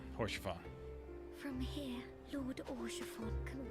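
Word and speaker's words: Haurchefant: Is that for Isal, or however you pronounce her name? Oh no, it's Horsefon.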